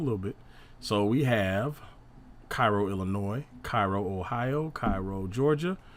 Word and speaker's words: Cairo: to the uh mississippi alexandria virginia and little cairo illinois though the locals pronounce it cairo are the other egyptian derived towns so we're